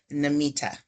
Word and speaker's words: Namita: And last, but definitely not least, we have Namita. Did I pronounce that correct?